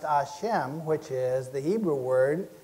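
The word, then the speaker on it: Hashem: the one that means action preserves knowledge is pronounced a Shem which is the Hebrew word that's substituted for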